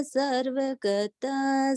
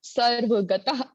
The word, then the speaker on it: सर्वगतः: हाँ, एक बात, ये जो विसर्ग लगी हुई है ना, स्वात्मस्थितः सर्वगतः, तो विसर्ग का उच्चारण ह होता है, ह।